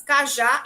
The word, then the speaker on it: cajá: Cajá e café. Vejam que aqui são oxítonas. Elas têm sílabas tônicas no final.